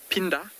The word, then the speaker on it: Phinda: Gypsy, Phinda, or I think more correctly pronounced Phinda, is the isiZulu word for return.